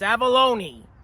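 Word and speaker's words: Avallone: But it's Avalone. Say it right.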